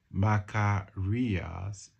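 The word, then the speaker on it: makarios: It's the Greek word makar rias.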